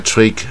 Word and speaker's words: trick: Again, 再一次 Could you do that trick again? 这个是念 trick, 不要念 trick, 它是短音带耳的音 trick.